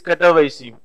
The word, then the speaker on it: Katowice: The pronunciation in the Poland is Katowice.